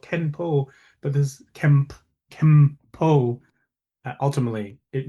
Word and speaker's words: Kenpo: So our regular set of forms, they were called Kenpo forms.